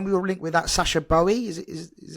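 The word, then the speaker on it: Sacha Boey: lot into when we were linked with that Sasha Bowie is is how you pronounce it uh when we're linked with here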